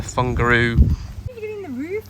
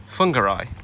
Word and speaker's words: Whangarei: get it to uh funguru Christine's referring to my horrendous pronunciation of a place in New Zealand where we're staying called whangarei but I keep calling it we might try and